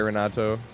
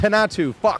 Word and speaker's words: Renato: I'm sorry, Renato. It's Henatu.